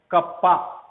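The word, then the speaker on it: κ: एक Greek alphabet है के जैसा लिखाता है लेकिन इसका उच्चारण है कप्पा तो पर आवर्धित फ्रांस को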